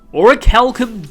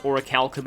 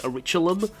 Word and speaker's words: Orichalcum: I'm pretty sure I said that before, that I used to pronounce Orichalcum as Oriculum.